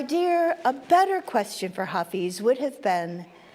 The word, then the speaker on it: Hafez: Um our reading comes from uh and I should have looked up how to pronounce this, if it's Hafiz or Hafez. Hafez.